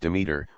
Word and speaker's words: Demeter: The name is pronounced Demeter, which is the goddess in charge of agriculture,